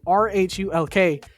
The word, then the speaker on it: Rhulk: And then for Rhaulk, how do you say his name? Rhulk.